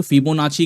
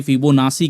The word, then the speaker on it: Fibonacci: अब फिबोनाची जो है जो है इसको लोग फिबोनाची कहते हैं, फिबोनासी कहते हैं, फिबोनाकी कहते हैं। जो दुनिया भर के अलग अलग देश में अलग अलग प्रोनाउंसिएशन है, जो चाहे वो बोल लो, सबका मतलब एक ही होता है।